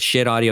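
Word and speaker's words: Schiit Audio: And that is how they pronounce it, Shit Audio.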